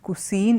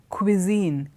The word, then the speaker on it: cuisine: the word cuisine and look at how I pronounce the word is not cusine it is cuisine qua qua cuisine cuisine refers to a